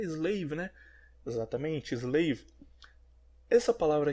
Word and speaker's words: Slav: Eslavo em inglês se pronuncia Slav, a escrever na lousa, S-L-A-V.